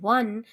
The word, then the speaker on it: one: have used ah because when I am pronouncing one the sound of war that is W sound is coming and that